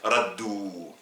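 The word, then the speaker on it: ردّوا: il au passé toujours un w est suivi d'un alif qui ne se prononce pas donc raddou.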